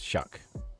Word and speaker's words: Soek: The E is very fast. It's Shuck. Shuck.